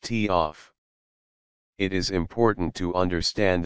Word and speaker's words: TOF: delay off timer sometimes called a TF pronounced tof it is important to